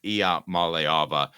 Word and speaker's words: Iamaleava: pronunciation there Caleb uh not great it's I Mala Mala I malava I was just kidding IIA malava um so a couple